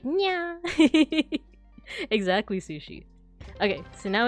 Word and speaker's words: niya: would say mataas grades nya. Yeah. Exactly. That's another one too, is that it's not niya. It would be nya, you know? It kind of like a cat, like nya.